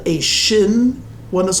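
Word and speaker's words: שִׁין: the the the one the first letter has the dot on the right and it's pronounced shin and the second one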